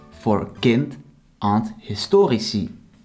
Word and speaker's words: historici: The I or E for kind and historici. Historici is pronounced long since the vowel is on the end of the syllable, as I explained earlier.